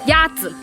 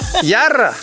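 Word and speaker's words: 鸭子: Yazi. Pero ese z aquí en Danyang se pronuncia r. Yarra.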